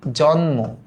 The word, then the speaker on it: জন্ম: লিখলেন না যে দেখো কিছু কিছু শব্দের শেষে মফলার উচ্চারণটা থাকে না যেমন আমরা যখন বলি জন্ম দেখ জন্ম আমরা যখন